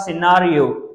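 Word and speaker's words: scenario: S conscious conscious ठीक उसके बाद सिनेरियो क्या पड़ेंगे सिनेरियो एस सी ई एन ए आर आई यहां पर भी सी साइलेंट होती है सिनेरियो उसके बाद बोलते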